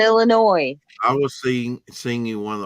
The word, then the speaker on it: Illinois: Well, There's no noise in Illinois.